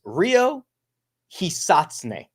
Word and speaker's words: Ryo Hisatsune: The guy that I'm referring to is Ryo Hisatsune, is the way that I had a native Japanese speaker tell me that would be an acceptable way to pronounce his name.